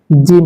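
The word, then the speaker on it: جيم: তারপরে চলুন জিম হরফ। এই হরফটা তিনলিপ টান হবে এবং এটি উচ্চারণ হবে জিহ্বার মধ্যখান তার বরাবর উপরের তার সঙ্গে লাগিয়ে।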